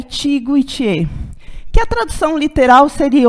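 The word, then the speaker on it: Ichigo ichie: que chama Ichigo Iti aliás se escreve e xiga ichê mas a pronúncia e Tiggo Itiê que a tradução literal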